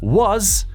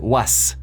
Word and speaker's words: was: Was, la S no se pronuncia tipo S. No se dice was, se dice was. Como una vibración, como una Z.